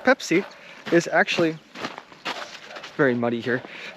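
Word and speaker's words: Peipsi: spelled like this pepsi but everybody uh it's pronounced pepsi you know i was actually planning on drinking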